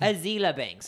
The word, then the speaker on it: Azealia Banks: Azealia Banks.